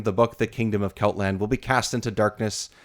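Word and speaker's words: Celtland: But it's just Keltland, right? Or am I pronouncing it's Keltland, right?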